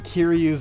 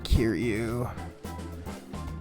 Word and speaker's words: Kiryu: He's wearing Kiryu's outfit. I don't like the flower. Yeah, the flower is sketchy too, but hang on. I can't pronounce. I can't spell. Kiryu. No, not Kiri. Kiryu, and he is from Yakuza.